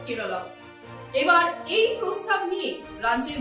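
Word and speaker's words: കേരളം: সরকারি ভাষা মালয়েলাম এবং সেই ভাষায় রাজ্যের নাম উচ্চারণ হয় কেরলম এবার এই প্রস্তাব নিয়ে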